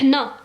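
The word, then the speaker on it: حنا: Rouge on dit en darja on dit hna. Hna, le 7, H-N-A, hna, nous, hna les Algériens.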